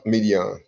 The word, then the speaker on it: Midian: How you pronounce this? Sons of Midian? Yeah, Midian.